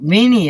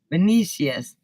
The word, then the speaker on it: Vinicius: Don't Vinny it. Why not? It's Vini, Vinicius.